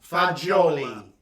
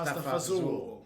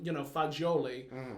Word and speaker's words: fagioli: Of pasta fagioli. Yes. It's like in Italy they do not say pasta fazool. They don't say that.